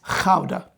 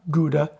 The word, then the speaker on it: Gouda: But it wasn't until we came over here that we realized we were mispronouncing it. It's Gouda, not Gouda.